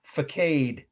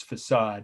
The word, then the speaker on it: facade: it may help you focade is how my favorite ants would pronounce that word it's facade of course f-a-c-a-d-e so again the